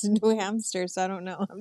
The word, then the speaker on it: New Hampshire: laughing at it, but there are people who probably pronounce it the same way as New Hampster, Yeah, and they right? I can't say was like, hamster. dude, just say New Hampshire, like ham, They're like, hamster, though, Yeah.